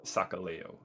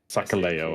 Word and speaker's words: Sakaleo: Sorry, I said the name wrong. Sakaleo. Sakaleo, okay. Layo.